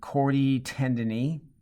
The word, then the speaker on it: chordae tendineae: Okay, you see these strands hooking to these are the papillary muscles down here, and the strands, you pronounce it chordae tendineae.